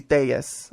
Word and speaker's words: Tellez: Tellez. All right. Tell the crew a little bit about yourself, the listeners out there, a little bit about you, Miss Tellez.